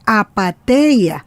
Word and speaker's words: Apatheia: Invitamos a seguir a Apateia en sus redes sociales, @Apateia73, se escribe con TH, Apateia, @Apateia73, o a Orlando en su Twitter o X, @Osuárez3.